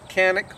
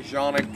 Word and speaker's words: Canik: It's called the Canik, which is not the proper way to pronounce it, but since I'm in South Louisiana, I'm pretty simple. It's pronounced, it's C-A-N-I-K, that's Canik to me. I know some people say Jonic and all of that, but that's nothing that I worry about.